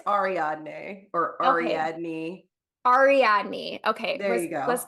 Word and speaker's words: Ariadne: I don't know how to pronounce her name. I think it's Ariadne or Ariadne. Ariadne.